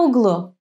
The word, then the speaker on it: углу: Where is the accent in these words? Listen. В аэропорту, в углу. Yes, the accent falls on U, on the last syllable.